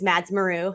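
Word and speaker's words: Mads Maru: on twitter um and my name there is mads meru that's spelled m-a-d-s-m-a-r-u um so i mean if you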